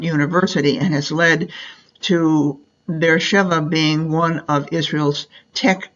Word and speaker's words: Beersheba: Here is Be'er Sheva, known as, now they spell it Beersheba, but it's pronounced Beersheba.